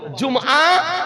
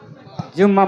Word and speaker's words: জুমআ: কিন্তু আমাদের দেশে বিজ্ঞাপনে, ইশতেহারে, জালসার পোস্টারে লিখছে কি বলছেন না? জুম্মা মসজিদ। রাগ করছে, নারাজ হচ্ছে, তো একটু জোরে বলেন না। কি বললাম? দেখেন, সংশোধন করেন, মুখে উচ্চারণ করাছি যেন ওটা সংশোধন হয়। জুমআ মসজিদ, জুমআ মসজিদ। আর কোনদিন আমরা জুম্মা মসজিদ বলবো না, জুম্মা আর কোনদিন বলবো না। কি বলবো? জুমআ মসজিদ।